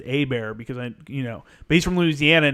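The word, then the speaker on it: Hebert: from louisiana his name's a bear and he's like i know how to pronounce that name it's h-e-b-e-r-t but you pronounce it a bear because i you know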